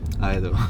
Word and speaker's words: Ido: Because usually people say Ido, Ido. especially here in Sweden. Oh, yeah? They would say, yeah. I was Ido. I keep correct. Ido. Yeah, it's Ido.